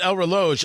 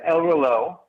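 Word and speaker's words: El Reloj: the United States so when I pronounce it El Lo I'm pronouncing it wrong well I you know I think you can pronounce a different ways of we pronounce it ELO which means clock or watch in Spanish which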